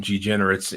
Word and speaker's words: DeGeneres: But before the A word there from Amazon, and it's Alan DeGeneres, and how do you say her name?